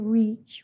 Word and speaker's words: reach: The first one, EA, is treated as a unit called a digraph, and together it represents a long E sound, so you read it as a reach, right?